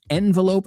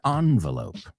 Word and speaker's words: envelope: That word has 2 pronunciations, envelope and envelope. Both are correct.